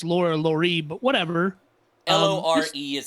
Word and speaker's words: Lore: laura laurie but whatever l-o-r-e is how you spell it i think it's mark lore right like folklore um what's really interesting